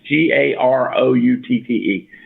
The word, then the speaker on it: Garoutte: Somebody tell me how to say last name. It's Garoutte.